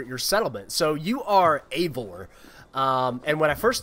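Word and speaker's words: Eivor: guyvore except now i i understand that it's pronounced avor not ivor um and so guyboard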